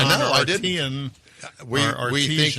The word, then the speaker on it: Arteon: That But you didn't tell us how to pronounce Arteon or Arteon. We we think it's it's Well, according to Mars, it's Arteon.